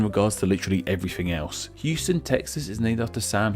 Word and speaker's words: Houston: city in Texas, and while they are spelled the same, they aren't pronounced the same, which, believe me, I found out about in my Neighborhoods of NYC video. In Texas, we have the city of Houston, while in NYC we have Houston Street.